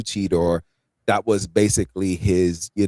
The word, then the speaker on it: Cheetor: Um, Derek, if I make may make a correction here as a new Beast Wars fan here, I believe it's pronounced cheater.